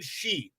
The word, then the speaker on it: Xi: Okay, we don't know but I think also the Chinese for example she Mhm. in Xi Jinping is spelled XI but it's SHE.